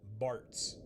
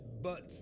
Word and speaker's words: Bartz: Yeah, his name is supposed to be Bartz. But they did it Butts instead of Bartz. Butts. It's spelled with a Z, by the way.